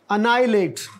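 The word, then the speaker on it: annihilate: और ये जो है इसमें एक लेटर साइलेंट है और वो है एच, अनाइलेट।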